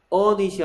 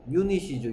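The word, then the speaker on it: unit: 그럼 얘 발음은 어닛이 아니고 뭐예요? 유닛이죠. 유닛. 그러면 한 세트를 보고는 뭐라 그러겠어? 어 유닛이라고 해야 되겠죠. 언 유닛이 아닙니다.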